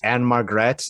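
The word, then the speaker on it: Ann-Margret: and then of course anne margret uh who was at margaret it's it's m-a-r-g-r-e-t margaret and margaret i'm sorry i'd interrupt you but i will not let you mispronounce these ladies okay so jack lemmon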